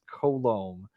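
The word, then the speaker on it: Coulombe: the way way it's colom HH yeah it sounds like colon but with an M or just men's perfume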